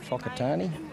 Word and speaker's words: Whakatane: Whangarei and Whakatane, as it's pronounced. It's a WH, but they actually pronounce it with the F, the traditional.